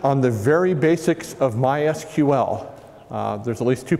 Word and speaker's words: MySQL: uh first thing is it's pronounced MySQL not myql uh some folks are